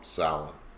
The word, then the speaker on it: Samhain: And there's the pronunciation, just so that way if you need to know how to pronounce it, that's how you pronounce it.